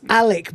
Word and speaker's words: Alec: That's Alec, by the way, rhyming with phallic.